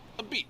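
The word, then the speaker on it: apizza: Haven pizza wow spectacular I just learned it you say it like this a beat that's right he's right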